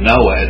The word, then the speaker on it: Noah: Commandments we have the we pronounce the the name Noah with no terminal H even though we spell it with one but they aspirate it in the uh in in Hebrew and so forth so